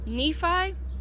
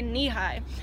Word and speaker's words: Nephi: Elco Nevada and then I always pronounce this town wrong Nephi Nephi Utah NE e p i I always try to say knee high but anyways um this